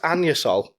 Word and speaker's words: Anusol: it's pronounced anusol. Yo, they can get fucked. It says anus. It says. It's anusol.